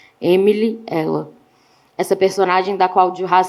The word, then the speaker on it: Emily L.: O casal de ingleses, Emilielle, a letra L, em francês, pronuncia-se exatamente como o pronome singular feminino, ela. Emily, ela.